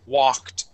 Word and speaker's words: walk: The word is walked. Walked. Okay. One more time. walked. Walked. Excellent. Okay, now remember class, this L in the word walk is silent.